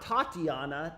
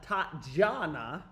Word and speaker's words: Tatjana: Not Tatiana, Tatjana. What is her name, dude? Not Tatiana. How do you pronounce this shit, bro? Her name is not Tatiana. It's Tatjana.